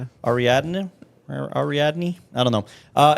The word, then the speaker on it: Ariadne: say named the way Aradin Ara Ariadne Ariadne Ariadne I don't know uh anyways if you